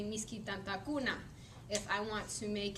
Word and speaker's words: misky tantakuna: depending on the suffix it's always the second to last syllable receives the stress um so i wrote